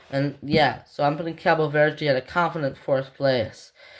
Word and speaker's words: Cabo Verde: Yeah, I just usually call them Cape Verde, but Cabo Verde, just have the correct pronunciation.